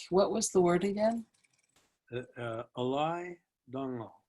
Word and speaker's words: Alay Dangal: Alay Dangal. It's spelled ALAYDANGAL.